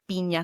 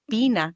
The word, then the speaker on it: piña: It's pronounced like, as Emmy gave the example, piña colada instead of pina colada. Can you see the difference? Piña versus pina.